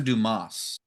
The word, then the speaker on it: Dumas: Is it Dumis or Dumas? I'll re pronunciate it, but French would be Duma. Dumas. But Duma. Ah, fancy. Okay. However you want to say it. Dumis.